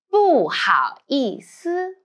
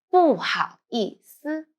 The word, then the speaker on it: 不好意思: 不好意思. When you pay attention, 思 you need to lightly. 不好意思.